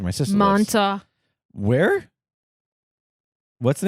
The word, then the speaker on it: Montauk: I said Montauk. I don't hear a K in this pronunciation.